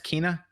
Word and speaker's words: Kena: final five seven and that's apparently i've been pronouncing it wrong it's not kenna it's kina i disagree can i i i think kenneth